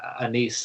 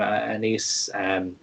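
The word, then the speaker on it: Anaïs: But yeah, the main character, Anise, I think is how they pronounce her name, Anise.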